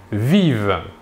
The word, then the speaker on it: vivent: Et enfin, à la troisième personne du pluriel, il ou elle vivent. Nous remarquons ici que la terminaison ENT à la fin du verbe conjugué à la troisième personne du pluriel ne se prononce pas.